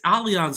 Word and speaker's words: Allianz: Dude, it's Allianz Arena. Remember they tried to almost have MetLife Stadium called Allianz Stadium, but there was those, German things that basically they couldn't have, the ties there.